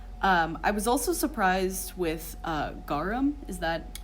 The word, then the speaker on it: garum: I was also surprised with garum. Is that how it's pronounced?